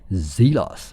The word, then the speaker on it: Zelos: So let's say it properly, Zelos, right? So anyway, let's see what model that we have here, and this is your usual box. But I've actually saw some people unbox this watch in the Zelos Timekeepers Facebook group, and it's actually a new